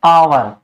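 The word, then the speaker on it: hour: इसके बाद है एच साइलेंट, एच, और नहीं पढ़ेंगे इसको, इसको क्या पढ़ेंगे, एच साइलेंट रहेगी, और इसको पढ़ेंगे आवर। क्या पढ़ेंगे, आवर।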